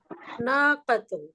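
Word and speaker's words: ناقة: একজনের কিন্তু বানানটা উচ্চারণটা ঠিক হলো না। নাকাতুন, নাকাতুন, না মাশাআল্লাহ।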